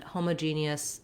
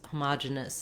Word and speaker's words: homogeneous: challenging words and homogeneous homogeneous is especially confusing because you'll hear it pronounced two different ways this one is closer to how it's spelled this one is quite different but again they're both correct and they're both um you can go with whichever one is easier for you to say i'll be back again